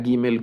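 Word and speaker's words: גימל: algunas regiones de pronunciación la letra gimel con el punto la pronuncian más fuerte más duro y la letra Gmail sin el punto un poco más suave pero solo es un tema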